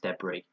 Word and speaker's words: debris: our sounds it spelled the wrists but it's pronounced debris the dirt and debris and I got he